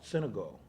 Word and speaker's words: Senegal: She's in Senegal, is that how it's pronounced? Senegal? Senegal.